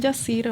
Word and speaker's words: Jassir: Se escribe con J, pero algunas personas me dicen Yacir, otras Jacir.